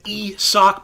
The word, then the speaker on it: Isaac: rays we're looking at e sock paredes love that it's not isaac it is esoc i do care about